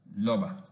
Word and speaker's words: rubber: When pronouncing such words or names, the r is replaced with l sound. For example, rubaba and rabi are pronounced as lubaba and labi respectively. Also, rubber is pronounced as loba.